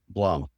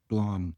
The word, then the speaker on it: Sandblom: Sand, Yeah, it was is it Sand Balm or Sand Bloom? Blom. Blom. We always mispronounced it for poor Ellen going through So school.